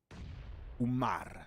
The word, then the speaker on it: Umar: Make pressure on the M. Umar.